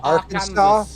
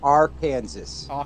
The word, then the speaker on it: Arkansas: You could pronounce it two ways. Arkansas or R Kansas.